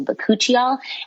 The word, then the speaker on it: bakuchiol: natural ingredient known as bakuchiol um which I'll spell but it's ba a k u c h i o l so bakuchiol um just because it doesn't necessarily sound how it's spelled um and so with